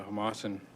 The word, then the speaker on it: Homalco: And I believe the word you were trying to pronounce earlier was the Homalco Holdings.